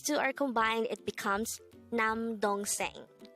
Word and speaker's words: 남동생: syllable is dong and third syllable is saying pronounce it with me the term nam dong seng means younger brother again it means younger brother